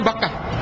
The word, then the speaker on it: Bakkah: Sebab mem dan ba itu dekat dalam pengucapan Arab. Dia letaknya di dalam ilmu tajwid juga, pengucapan di lidah kita itu mim dan ba ini huruf-huruf yang dekat.